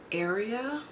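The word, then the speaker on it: Aria: Then we have a Divina shadow in Area, and it's not spelled like area, like this is your area.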